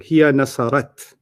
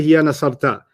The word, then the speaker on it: هي نصرت: You got the ta right. You're pronouncing it wrong. Hiya nasarat. Oh, هي نصرت. Okay, let's start that again. Okay. And let's see if you don't say hiya nasarta. Hiya nasarat is what I want to hear.